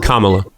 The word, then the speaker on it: Kamala: Trump's first and second term, like I was saying, and why Camala would not be as good.